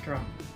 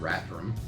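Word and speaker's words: Rathdrum: it is mispronounced sometimes rrum um is how you pronounce it in case you're having trouble with it I don't know if it's the th and the D put together that people fumble over but rrom okay let's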